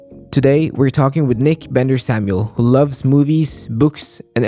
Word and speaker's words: Bendor-Samuel: And our guest is Nick Bender Samuel.